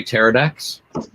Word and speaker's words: pterodactyl: You can say pterodactyl. Pterodactyl, is that really all it is? Okay. Yeah. I wasn't sure. The P is silent.